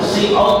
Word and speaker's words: cout: Setelah kita ketikkan di keyboard, akan diketik, ya, ditangkap oleh C-in, C-out tadi adalah C-output, ya, karena bahasanya pakai C, ya C-out, ya C-out aslinya seperti itu bacanya.